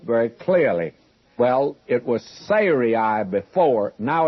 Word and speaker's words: Sarai: It's Sarai would be the correct pronunciation before.